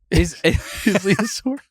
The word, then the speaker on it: Isildur: It's like a dinosaur. Isildur?